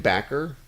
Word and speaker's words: Bakker: Jim Bakker and Baker, apparently.